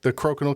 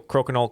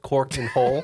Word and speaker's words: Crokinole: But he mispronounced the name. He said it was called Cork and Hole.